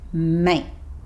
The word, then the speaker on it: mate: He stops himself just before he makes the t sound at the end of mate. So this sounds more like mate.